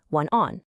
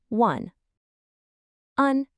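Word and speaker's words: 晚安: In Chinese, it's one on. Let's try it. Repeat after me. One on. Together one on.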